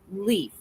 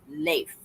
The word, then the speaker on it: Leif: No, there in this article that I read last night said that it's not pronounced Leaf, it's Leif.